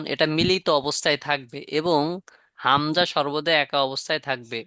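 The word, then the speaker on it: همزة: কিভাবে চিনবো এবং এটাও গলার শেষ শুরু থেকে হবে কোথা থেকে সরি গলার শেষে থেকে হবে কোথা থেকে শেষ থেকে উচ্চারণ হাঁ হামজা হামজাহ হামজাহ হামজাহ হামজাহ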